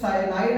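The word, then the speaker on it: cyano: टेट्रासाइनो means साइनाइड ion negative होता है 4 time. साइनाइड negative होता है इसलिए साइनो, ओ का उच्चारण यहां पर हो रहा है।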